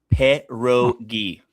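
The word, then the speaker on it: pierogi: Perogi. Got the pronunciation right.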